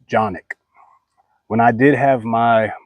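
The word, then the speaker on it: Canik: canic this is also a 9mm it's actually pronounced johnic when I did have my my gun shop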